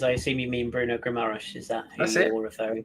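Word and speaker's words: Guimarães: When you say Guames, I assume you mean Bruno Guimaraes.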